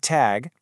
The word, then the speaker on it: Tag: The G at the end of the word tag is pronounced like a hard G.